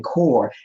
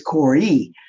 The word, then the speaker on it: Kore: I was saying Kore, it's Kore.